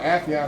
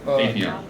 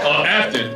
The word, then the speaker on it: Affion: And the second part, Affion, I know. Afion. Afion. Say my name wrong. Afton. With confidence, too.